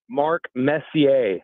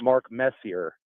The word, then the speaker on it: Messier: Just think French. When you see a lot of those names, think French.